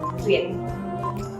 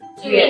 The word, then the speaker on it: tuyệt: But you know, for you to pronounce letter T well, it's not like English, because in English there is an air, right, coming out from your mouth.